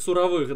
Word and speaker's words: суровых: но вот вот запаять суровых да причем суровых но опять же на настоящие ударение на о должно падать слова суровых вы понимаете о суровых